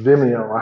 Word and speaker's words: Vimeo: Vimeo.